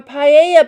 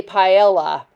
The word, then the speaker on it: paella: MasterChef and they say paella it's not paella double a double L's are a y sound so it's quesadilla it's